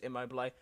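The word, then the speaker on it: Immobile: Um I think it's it's how I would it's how it's spelled IMO, but I'm pretty sure it's immobil.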